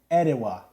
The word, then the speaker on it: Atiwa: People in Ghana pronounce it Atiwa. W-U-H. Atiwa. Atiwa. Atiwa. Okay. Okay. Atiwa. I like it. Atiwa. Atiwa. With emphasis on the third syllable. Atiwa. Atiwa. Atiwa. Atiwa. Atiwa. Atiwa.